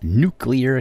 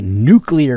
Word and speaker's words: nuclear: And do please make sure to pronounce it nuclear, not nuclear. It's not spelled that way. Homer Simpson may say it that way as he works at his nuclear power plant, but it is definitely not nuclear.